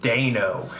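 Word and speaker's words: Deino: oh wait so exactly as I said your pronunciative Dino is weird but apparently the way it's pronounced is actually Dano no that's what I would I say Dino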